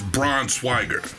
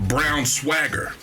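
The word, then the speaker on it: Braunschweiger: the actual pronunciation is Braun swager or brown swier like the German way but the wife and her family for years they called it brown swagger so I'm like how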